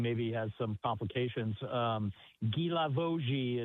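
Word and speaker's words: Guilavogui: Um, Gilavoji is how you say it in French.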